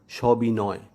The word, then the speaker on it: সবিনয়: তাই আমরা উচ্চারণ করছি সবিনয়, সবিনয় নয়।